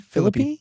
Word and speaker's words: Philippe: Once Ryan Phil, how do you pronounce the last name? Philippy.